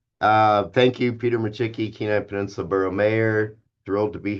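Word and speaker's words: Micciche: Um I need to get you one of the mugs my wife designed that has an MI, a chick, and a key on it. So, uh, you'll stop calling me Machi.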